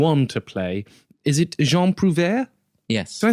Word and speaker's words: Jean Prouvaire: Is it Jean Prouvaire? Yes. Did I say it right? Yes, Jean Prouvaire.